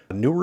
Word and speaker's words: Neewer: I guess that's on their website how it's pronounced newer infinity and then 2.4 GHz uh connection and